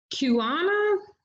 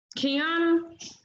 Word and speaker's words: Kiana: all right so kick kiwana kiana i hope i'm saying it right kiana hello yes that is what you call me yes ma'am so okay